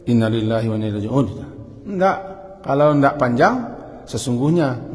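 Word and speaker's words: إنا لله وإنا إليه راجعون: Wa inna, dan sesungguhnya, membacanya sepanjangnya pendek. Panjang kan? Awak kadang-kadang baca pendek. Innalillahi wa inna ilaihi raji'un.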